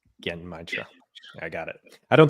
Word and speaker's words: Genmaicha: I actually went on YouTube this week and I searched how to pronounce it's pronounced, I think, Genmaicha. Genmaicha.